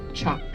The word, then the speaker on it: teach: say it in English but in Irish it's pronounced chalk and it needs a house or a dwelling